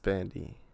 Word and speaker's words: Bandai: Such as Bandai. No, it's Bandai. They're gay then. They're not Japanese. Anyways, wait, so like the eyes are pronounced as E's. Yeah, but there's an A there. Like Thai. Namco. Anyways, like Thai food.